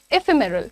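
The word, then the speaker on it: ephemeral: नाउ एफिमिरल का मतलब पहले प्रोनंसिएशन पर ध्यान दिया आपने इफेमिरल कैसे बोला मैंने इफेमरल ये क्या है ये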